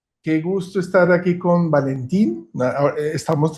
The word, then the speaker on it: Valentine: Hola a todos, qué gusto estar aquí con Valentín. Estamos tratando de decir bien su nombre, que a veces los nombres franceses no se pronuncian como se escriben, entonces tan simple como decir Valentín, puede decir Valentina, como acabamos de decir en español.